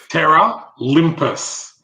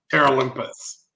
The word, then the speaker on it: Terra Olympus: So Terra Olympus. So it's like terraforming and Olympus merged together. Terra Olympus.